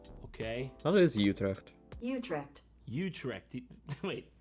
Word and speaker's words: Utrecht: that can't be right oh we're on the american pronunciation let's switch to the dutch the british pronunciation utrecht i feel so cultured there's just no way i'm learning you tricked you tricked there's no replacement for being worldly give me a dutch guy saying you trek for god's sake how